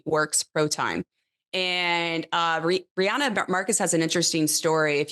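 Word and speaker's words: Riejanne Markus: think that goes without saying but then Rihanna Rihanna Marcus is that that's how you say her name right yeah it's Rihanna Marcus uh she's a Dutch Rider she races for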